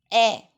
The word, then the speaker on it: heir: HEIR. Pronunciation is a. Meaning is successor or succession, from one generation to another, that is called successor. So that is a.